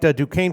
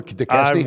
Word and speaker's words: Duquesne: Duquesne plus 8.5. How many years it took me to pronounce that freaking school right? Yeah. Did you ever? DeKesney?